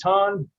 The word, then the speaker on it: Ton: Did I say it right? Is it Ton? Yes, good.